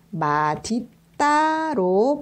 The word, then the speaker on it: 맛있다: 맛은 d 것으로 바뀌게 되고 그게 여름이 되어서 마디 따로 발음을 해야 됩니다 뒤에 이따가 아니라 없다 가 붙으면